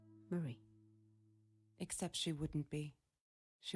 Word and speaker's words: Marie: to marie marie oh maryse oh you you pronounce it marie not mary okay that makes sense